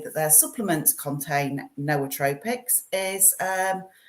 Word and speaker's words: nootropic: So so when they all say nootropic, now it's from the noos Greek, so it's nootropic.